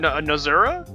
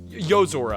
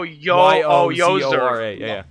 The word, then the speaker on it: Yozora: How do you spell that name? What? Nozura? Yozora. Oh, Yozora.